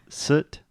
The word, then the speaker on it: soot: What we're focusing on here is the pronunciation. Yes, teacher. So repeat with me one last time, Alexia. Soot, suit.